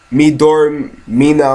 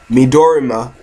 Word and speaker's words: Midorima: I do think we're going to get one from uh Aomini uh and you know Midor Mina or however you pronounce his name. I keep forgetting. Wait, let me Midorima.